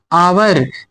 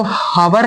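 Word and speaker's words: hour: आवर, इसको हवर नहीं पढ़ते, कई सारे बच्चे जो होते हैं इसको हवर पढ़ लेते हैं। हवर नहीं पढ़ते हैं, प्रोनाउंसिएशन पर ध्यान दीजिएगा, आर पढ़ते हैं इसे।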